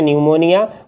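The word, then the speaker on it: pneumonia: अगला है हमारा, है ना, ये है न्यूमोनिया, है ना, ये पी से शुरू हो रहा है, देखेंगे पी से शुरू हो रहा है पी, लेकिन साइलेंट हो जाएगा, है ना। न्यूमोनिया उच्चारण है न्यूमोनिया, बट हिंदी में हम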